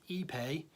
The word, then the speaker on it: Ipe: characteristics of EPA EPA is spelled IPE and pronounced EPA ye - PA why he pay we were